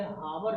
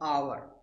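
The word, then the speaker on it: hour: भी दिए गए हैं, देखिए हावर लिखा है लेकिन हम पढ़ते हैं आवर, क्या पढ़ते हैं, आवर, यानी यच यहाँ क्या है, साइलेंट है।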